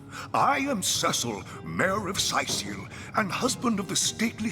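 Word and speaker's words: Cyseal: husband of the stately Cecilia. I've been the mayor here for decades, and I'm quite eager to see Sicil through these difficult times. Yes, very difficult times indeed. So it's pronounced Sicil, not Cecil.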